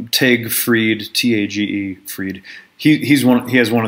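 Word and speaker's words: Tage Frid: They told me how to say his name right. It's, you know, I'm talking about Tag Fried, T.A.G.E.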